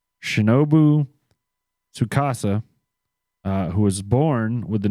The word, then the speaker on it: Tsukasa: Shinobu, oh Lord God, Shinobu Tsukasa. I'm gonna go with the T is silent, like tsunami. Okay. So it's Shinobu Tsukasa, who was born with